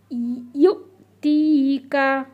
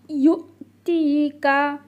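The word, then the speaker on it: يُعْطِيكَ: তো আমরা কিন্তু তি বলবো না, এই জায়গাটা একটু খেয়াল করতে হবে সবাইকে। এখানে একটু শেখার ব্যাপার আছে। এখানে কিন্তু তা থাকলে তি হতো, তা ইয়াজের তি হতো, কিন্তু এটা রয়েছে হচ্ছে ত, তাহলে ত ইয়াজের তি, একটু চেপে গালটা ভরে উচ্চারণ করতে হবে।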